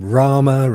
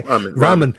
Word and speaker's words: ramen: had a couple of they had some some Rama and and wines the night before is that where you pronounce it Rama what's that the noodles yeah okay Ramen yeah they're having all that stuff the night